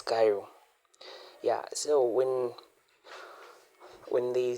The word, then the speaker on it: chiral: So let me just write for you the word Cairo. So Cairo we just remove the Yeah. So Cairo is written like this not we pronounce this as Cairo.